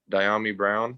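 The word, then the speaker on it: Dyami Brown: But how do you pronounce the kid's name from North Carolina? Diami Brown.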